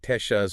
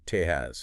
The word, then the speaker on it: Texas: The letter X in the original Spanish orthography of the time often sounded closer to the English she sound, or sometimes H. So more like Texas or Tejas. Exactly. The modern English pronunciation with that hard heart sound, Texas, is actually unetymological. It deviates from the historical pronunciation.